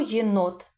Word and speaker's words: єнот: А на який склад падає наголос? Not. Так, на другий склад голосну о. Молодці. А тепер, діти, ми з вами спробуємо надрукувати слово єнот.